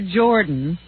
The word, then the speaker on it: Jordan: Barbara Jordan, died. She was one of the first... Barbara Jordan. Jordan. Do you pronounce that Jordan or Jordan? Why would you pronounce it Jordan? It's Jordan. I could swear it was Jordan.